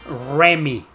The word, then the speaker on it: Remy: So it's Remy. Okay, Remy. Haha. Some of you can't pronounce the R like we do.